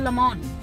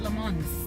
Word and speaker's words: Le Mans: I think it's called Le Mans, not Le Mans. The S is not pronounced.